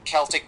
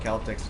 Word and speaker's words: Celtic: Like the pronunciation, first off, I always thought it was Celtic because I don't know, it sounded more cool to me, and I thought that was how it was. Well, it's more Celtic. It's Celtic is how you say it. It's hard C.